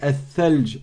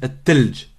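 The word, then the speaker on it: الثلج: Au lieu de dire tha, ils disent ta. La neige, on dit at-thalj. Eux, ils disent at-talj. At-talj.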